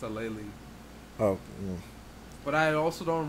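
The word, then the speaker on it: Aleali: that oh she oh she has it pronounced she has on her bio as her um as a um okay a laylee a laylee may way easier than what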